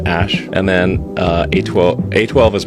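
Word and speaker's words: Æ: called x-a-12 letter x the ae is pronounced ash and then a12 a12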